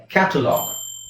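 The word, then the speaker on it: catalogue: ಎಲ್ಲಿ ಒತ್ತಾತಾ ಇದೀನಿ ಕ್ಯಾಟಲಾಗ್ ಇದನ್ನ ಕಾಮನ್ ಆಗಿ ನಾವು ಕನ್ನಡದಲ್ಲಿ ಹೇಳೋದಾದ್ರೆ ಕ್ಯಾಟಲಾಗ್ ಅಲ್ವಾ ಅದನ್ನ ಒತ್ತೋದು ಪಿತ್ತೋದು ಏನು ಇಲ್ಲ ಯಾಕಂದ್ರೆ ಒತ್ತಕ್ಷರ ನಮ್ಮ ಪ್ರಕಾರ ಇಲ್ಲ ಅಲ್ಲಿ ಎರಡು ಒತ್ತಕ್ಷರ ಇಲ್ಲ ಬಟ್ ಆಕ್ಚುಲಿ ಇದರ ಉಚ್ಚಾರಣೆ ಕ್ಯಾಟಲಾಗ್ ಈ ತರ ಹೇಳಬೇಕು ಇದು ಬ್ಯಾಲೆನ್ಸ್ ಬ್ಯಾಲೆನ್ಸ್ ಸೋ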